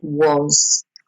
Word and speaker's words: was: they were notice the was is spelled with an a but you actually pronounce it like an o sound was and the word you